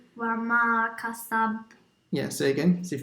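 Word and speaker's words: كَسَبَ: So the ba, you have to do qalqal on it. Kasab. Kasab. Yeah, but not as much as the first one.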